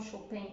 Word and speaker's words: Chopin: por exemplo, Chopin ou Chopin, como preferirem pronunciar, tem uma pegada mais bucólica, né?